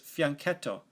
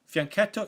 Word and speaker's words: fianchetto: is developed to B7 or G7 the proper pronunciation for this pattern of development is fianchetto fianchetto is an Italian word that means little flank